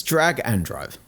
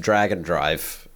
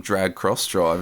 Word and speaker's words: Drag x Drive: It's Drag and Drive. What? What did I say? I would have thought you said no you said it correctly but it's pronounced dragon drive.